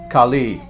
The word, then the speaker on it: Kali: goddess Khali now again listen Khali Kali with the term Kali as in kuga short a short I with the goddess on the other hand long a long I Khali Khali and it's unfortunate how